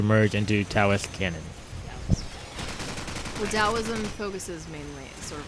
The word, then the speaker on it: Taoism: Well, Taoism focuses mainly sort of like on going. It has a T. It's peaceful. How's It's that- pronounced like a D.